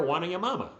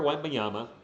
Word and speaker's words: Wembanyama: Victor Wanyama. That's right. That's what we call him on this channel. I know it's Victor Wembanyama. I believe that's how you say it.